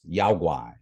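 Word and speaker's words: 妖怪: In China, it's pronounced yaoguai, right? But the characters that they are written in are the same characters. It's just that difference in pronunciation.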